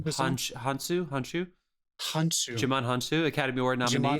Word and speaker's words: Hounsou: But the Helen Mirren, Lucy Liu, and Djimon, how do you pronounce his last name? Hounsou.